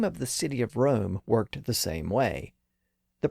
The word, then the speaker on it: Rome: of its meaning but if we changed the pronunciation of the city back to the way he would have pronounced it the line reads now it is room indeed and room enough